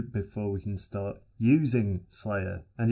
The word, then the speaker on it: SLYR: we can start using slayer and yes i will be calling it slayer from now on because syllables and we're beginning in the